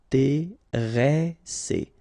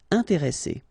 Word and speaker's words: intéressé: And the second thing you should remember is, as we've got double S, so double consonants, so identical consonants, after this the sound that you should pronounce for this is really open, so it's E. Intéressé. Intéressé.